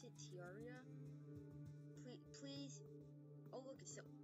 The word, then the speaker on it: Terraria: How you pronounce it? Terraria.